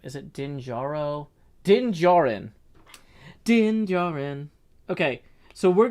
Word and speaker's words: Din Djarin: Din Djaru, is that right? Mandalorian's name, is it Din Djaru? Din Djarin.